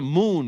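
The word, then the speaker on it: Muun: that's what he's a moon right Moon Moon m m that's how you say it mu uu n he's a mun he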